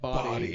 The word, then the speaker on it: Body: guy like your name your last name is literally spelled like body it's pronounced bod but you do have